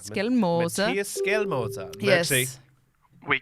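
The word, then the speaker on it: Skjelmose: brushing up, doing the tongue exercises and get the pronunciations right. Can you say that name one more time? Just Skelmoser. Skelmoser. Skelmoser.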